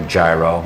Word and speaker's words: gyro: And you find that in probably the most famous street food that we have, souvlaki or gyro. You would pronounce it gyro if you were Greek, not gyro.